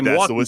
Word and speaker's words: Milwaukee: Because people say Milwaukee too, and there is an L in the word, like Milwaukee.